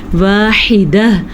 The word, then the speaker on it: وَاحِدَةٌ: واحدہ ہا کا تلفظ کہاں سے نکالنا ہے یہ آپ نے پریکٹس کرنی ہے اور آخر میں پھر سے ہا کی آواز آنی چاہیے.